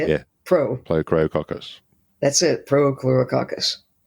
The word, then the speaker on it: Prochlorococcus: It's Prochlorococcus. You can say it. Yeah. Prochlorococcus.